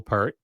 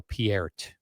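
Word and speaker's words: Peart: Neil Pert. Although, someone told me, I remember when he passed away, they're like, "No, everyone's saying it wrong. It's Neil Pier."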